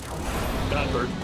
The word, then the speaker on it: Godbert: It's the currency of our true one god, Goldberg Vanderville. Godbert.